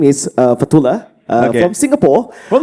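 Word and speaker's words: Fathulah: And the audience, my name is uh Fatula from Singapore. From Singapore. Part two. Yes. How do you spell that? Uh F A T H U L A H. Fatula.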